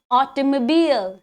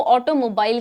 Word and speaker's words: automobile: Despite its spelling of mobile in the last syllable, many often pronounce it as mobile. ठीक है, last में जो ये मोबाइल है ना, उसकी प्रोनाउंसिएशन की वजह से काफी बच्चे इसको ऑटोमोबाइल कहते हैं, which is wrong. The correct pronunciation is automobile.